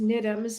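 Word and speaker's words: NIDMS: the UK but they're excellent one is it's pronounced nitums it stands for National Institute of dance medicine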